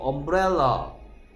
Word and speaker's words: umbrella: 예를 들어서 umbrella. umbrella의 발음 기호는 이렇게 생겼죠. 예, 이 삿갓이라고 얘기하는데요. 어 소리입니다.